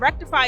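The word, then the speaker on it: Rektify: info@ rectify doai and rectify is spelled r e KT ify kind of like wreck and crypto like you have a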